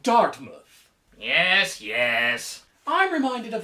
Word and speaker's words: Dartmouth: It is pronounced Dartmouth.